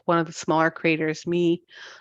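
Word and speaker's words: Mie: of the smaller craters me I think it's pronounced me m i e um at in Utopia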